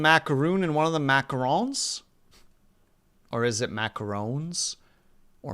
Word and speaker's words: macaron: I think to pronounce it correctly, you need to say macaron.